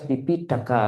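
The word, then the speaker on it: Tipiṭaka: Kalau T ada titik bawah tuh kayak orang Bali tahu enggak? Tidak gitu. Da da. Jadi antara T sama D itu ya. Jadi bacanya harus tip daka gitu.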